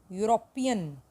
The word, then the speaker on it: European: Sound आ रही है यो. यूरोपियन, यूरोपियन. ई silent है, यूरोपियन.